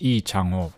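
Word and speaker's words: 이창호: the given name it's actually in Korean it's pronounced e changho or E right but uh in the Americanized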